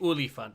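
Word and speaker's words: Olifant: you're trying to pronounce the afrikaans version of elephant it's elephant the oly font yeah the oily the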